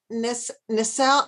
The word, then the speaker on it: nacelle: you have it now nacelle is spelled n-a-c-e-l-l-e many yes yeah the cells like you know in the cell okay and they're so